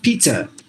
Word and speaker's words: pizza: Whether you go to British or America, the same way it is pronounced, pizza. It's not like Americans different and British different, no, not like that. So there, you find two Z's, but no Z sounds at all when you pronounce it.